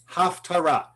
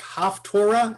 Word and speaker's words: haftarah: Because of the way some people pronounce these 2 words, you'll hear it like haftorah and Torah, and people will think they are connected.